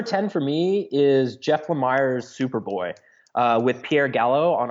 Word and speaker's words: Lemire: bit of Ramadan going on, but it is Lemire. I finally learned how to pronounce it. But anyways, that was that's embarrassing because I did that phone interview with him and I called him Lemire the whole time and he didn't correct me.